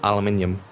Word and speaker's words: aluminium: Oh, basically, I have trouble saying that word, aluminium, and I'm doing it.